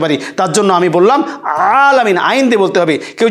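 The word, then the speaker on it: العالمين: রহমানির রহিম, আলহামদুলিল্লাহি রাব্বিল আলামিন। এই যে আলামিন, দেখেন এখানে কিন্তু এক আলিফ টান হবে এবং গলার ভিতর থেকে, গলার মাঝখান থেকে হবে আইনের উচ্চারণ। কেউ যদি পড়ে আলহামদুলিল্লাহি রাব্বিল আলামিন তাহলে কিন্তু হবে না।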